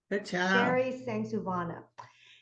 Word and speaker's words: Sengsouvanna: to say this um if you read your last name slowly that's how you pronounce it thanks Savannah she is um in